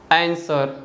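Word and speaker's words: answer: कोई रूल नहीं है जैसे कि सोड टू और आंसर तो इन तीनों वर्ड्स में जो लेटर डब्लू है ना किसी भी लेटर के पहले आ रहा है इसलिए जो लेटर डब्लू है यह साइलेंट है ओवरऑल हमने साइलेंट लेटर्स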